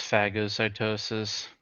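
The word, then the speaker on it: phagocytosis: Oh man, it's it really is pronounced fagosytosis.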